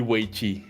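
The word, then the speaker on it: 围棋: The original pronunciation. Right. Right. Right. Will be way.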